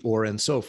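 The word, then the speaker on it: Ein Sof: By putting the two together, the Ensof or what I call the Or Ensof, which is really how it's said, in Kabbalah, the Or Ensof, the light of Ensof, as one continuum.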